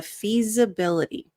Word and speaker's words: feasibility: to look into the feasibility the S infeasibility sounds more like a z so you'll notice there's